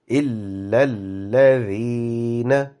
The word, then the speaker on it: إِلَّا الَّذِينَ: So instead of reading إِلَّا الَّذِينَ, if you pronounce this إِلَّا الَّذِي, because there are two alphabets with shadda, so give the correct emphasis for shadda. إِلَّا الَّذِينَ.